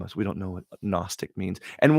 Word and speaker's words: Gnostic: And why do they have to pronounce it with an N when it starts with a G? It's Gnostic or just take out the G. Well, the G has to be silent.